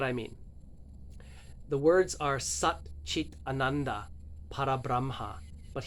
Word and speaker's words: Sat Chit Ananda Parabramha: The words are Sat Chit Ananda Parabramha, but he doesn't speak it like it's a sentence. He says Sat Chitananda Parabramha.